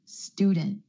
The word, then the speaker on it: student: that cluster so for example the word student instead of student student my tongue stays up for the T sound after the N student I'm glad I'm